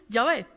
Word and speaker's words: Yahvé: Entonces esa palabra se pronuncia de la manera más fácil, Yahvé.